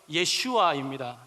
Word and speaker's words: 예슈아: 이건 다 같은 단어들입니다 예수님의 히브리식 발음은 예슈아입니다 예슈와 이것을 헬라어로 예수스라고